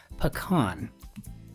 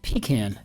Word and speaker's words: pecan: warm street of brown could be pecan or pecan, depending on where you're from or how you care to pronounce it.